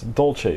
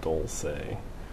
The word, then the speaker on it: dolce: See, it's dolce. It should be Italian pronunciation. So, you're wrong. Starbucks is always right. I like always repronounce it for him. I say dolce because that sounds correct, not dulce.